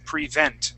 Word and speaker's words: prevent: the word prevent okay so our accent will go on the very end of the word okay and we'll start it off with a short or a long e sound and then it'll go into a short e sound so it's prevent prevent try that prevent awesome